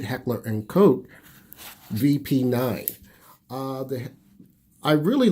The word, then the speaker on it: Heckler & Koch: Let me pronounce that right, Heckler & Koch VP9.